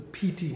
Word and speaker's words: piti: The piti needs to start arising. So what is piti? It's spelled P-I-T-I.